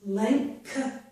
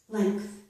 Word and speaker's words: length: Not all people pronounce the K in these two words, but many people do, and I am one of them that does pronounce it. So again, this is length, length, strength.